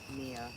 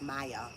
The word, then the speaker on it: Maya: Mia Angelou. Mama. Mama. Mia. No, that's Maya.